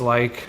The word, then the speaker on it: Laich: all socials at like but spell like some of them my last name is pronounced like l i ke but spelled l a i so l a